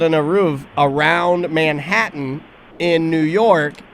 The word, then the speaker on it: Eruv: Yeah, the Eruv, or Eruv as I mispronounced it, the Eruv.